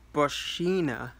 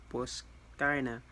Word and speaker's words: Boschina: It's pronounced as Boschina, according to the thing, but I call her Boskina because, like, I have a lot of Italian background, and I always instinctually pronounce CHs as K instead of Ch.